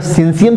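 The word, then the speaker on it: syncytium: सिनसियम की स्पेलिंग होता है SYNCEIUM, सिंसियम ही पढ़ा जाएगा, आप लोग समझ लीजिए क्या पढ़ा जाएगा, हम तो सिंसियम पढ़ेंगे इसे।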